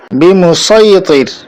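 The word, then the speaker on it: بمصيطر: সূরা আল গাশিয়াহ ২২ নম্বর আয়াতে যেটা আছে লাস্তা আলাইহিম বিমুসাইতির, এখানেও আমরা সদ দিয়ে উচ্চারণ করব বিমুসাইতির।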